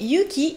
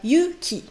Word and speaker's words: Yuki: Et le thème d'aujourd'hui est Yuki et la neige. Allons-y! Yuki, c'est le prénom de notre héroïne ici présente. Donc vous pouvez voir dans la présentation des personnages, on voit que le prénom de Yuki est écrit en kanji.